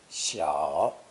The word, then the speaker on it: 小: one on either side pronounce the third tone shaw it means small trifling